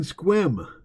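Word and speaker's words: Sequim: So you live in Squim. Haha, I bet you didn't know I knew how to pronounce Squim, did you?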